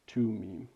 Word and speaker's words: Thummim: Okay, Urim and Tumim, which some Jewish guy said was how you pronounce it, so I trust him.